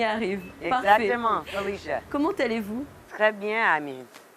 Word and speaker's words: Phylisia: normalement, on doit le dire Félicia, c'est ça? Felicia. C'est bon ça. On y arrive. Exactement, Parfait. Felicia.